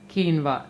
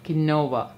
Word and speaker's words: quinoa: quinoa is written as quinoa but it is pronounced as quinoa not quinoa into this I'm adding in tur Dal you